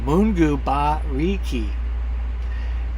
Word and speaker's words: Mungu Bariki: So she's actually put it phonetically. Thank you for people that live in vans like me. Mungu Bariki.